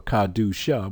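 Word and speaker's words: Qahdoosha: For example, Kadusha Yam or Kadusha, which means saint, Q-A-H-D-O-O-S-H-A, saint, Kadusha. You can spell it with 2 U's also. Still, it'll give you the exact same sound.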